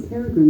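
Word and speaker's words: Peregrym: so Maggie Bell is played by it's a Peregrine in the show FBI okay so I don't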